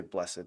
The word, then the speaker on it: blessed: We say blessed, that's just a fancy way of saying blessed. Make it two syllables.